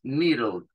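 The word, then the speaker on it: needle: un insumo que es nirole que es hace referencia a a la aguja nido esa doble e que hay acá se pronuncia como una y nuestra y pero un poquito más larga Niro y la era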